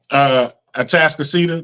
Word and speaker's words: Atascocita: And here's the thing: I would love for them to beat Atascocita.